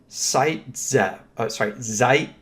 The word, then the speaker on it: Zaitsev: Our textbook, however, uses this spelling, and it's pronounced Zaitsev.